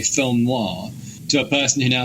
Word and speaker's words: noir: Has it also helped you from going from a person who used to say film noir to a person who now says film noir? Compares, like, it's a double syllable noir.